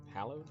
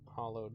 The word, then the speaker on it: hallowed: Hallowed grounds? I think, anyway. I've always pronounced it hollowed, but it's just the O that's more like an A, you know?